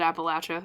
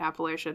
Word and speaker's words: Appalachia: Like Appalachia has a lot of, or I'm sorry, I should pronounce it Appalachia. Excuse me. Forgive my Midwestern sensibilities in calling it Appalachia to any Appalachians out there.